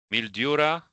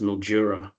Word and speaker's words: Mildura: A mildura. B Mjura. B. It's practically pronounced Mjura.